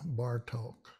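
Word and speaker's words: Bartók: on it or not doesn't really change the o it's still pronounced as an o bar talk the accent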